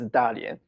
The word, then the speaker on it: Dalian: The pronunciation is Dalian.